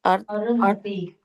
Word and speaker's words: Arundhati: Sorry, Mataji, how to pronounce this? Arundhati.